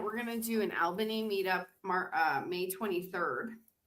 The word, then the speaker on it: Albany: But it's Albany. But but but you're right. It's you pronounce it all.